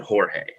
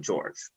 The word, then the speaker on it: Jorge: Yes, in Spanish class you would pronounce it Jorge, but sometimes even if it's a Spanish person, they themselves pronounce it George.